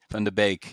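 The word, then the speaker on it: Van de Beek: Van der Beek, yeah.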